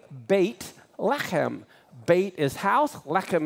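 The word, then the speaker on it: בית לחם: how many vertebra hem Bethlehem is really bait let him bait is house let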